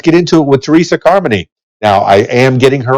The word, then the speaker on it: Carmoney: at your facebook page it has a pronunciation key it says harmony like harmony yes i had to do that because people they'll call me car money or car money and it's like no harmony let it flow car money sounds good